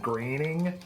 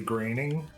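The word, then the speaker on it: Groening: So, can we talk about how uh how the creator's name is Matt Greening and there's no A in his last name at all? I can't pronounce his last name at all. What? You can't say graining.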